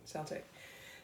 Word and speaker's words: Celtic: I pronounce it like the football team, Celtic.